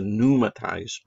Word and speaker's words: pneumatized: Remember, this guy is a pneumatized bone. That P is silent there, too.